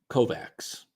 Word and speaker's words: Kovacs: Anyway, W Kovacs. Just W Kovacs. Okay. But how's it pronounced? What is the phonetic? Okay, so it is Kovacs.